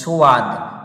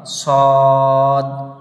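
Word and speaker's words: صاد: তারপরে এটা হবে সদ, অনেকেই বলে আমরা পড়ি, অধিকাংশ মানুষের জবানে শুনতে পাওয়া যায় যে সোয়াদ, সোয়াদ নয়, এটাকে বলতে হবে দন্তে সয়ে বয়ে দ, সদ সদ, এটাকে বলতে হবে জদ।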